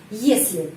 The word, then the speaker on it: если: Terus если ты хочешь. Jika kamu mau. Di sini present tense ya. Если ты хочешь. Если, jika, если. Dan ucapannya если seperti dalam kata Inggris yes, если.